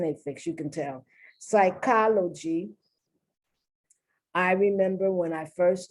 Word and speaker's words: psychology: find words as examples pseudo psi psych like psychology psychiatry psycho these are affixes uh normally i don't pronounce them sometimes i do sometimes i don't if it's an a